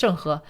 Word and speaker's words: Zheng He: Advanced mariners such as, how do you pronounce it? Is it Zheng He? It's Zheng He.